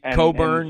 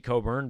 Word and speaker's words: Cockburn: As somebody posted on our message board, the C and the K can't both be silent, but whatever. That's cool. His name is Kofi Coburn, but he played a pretty nice game, especially in the second half.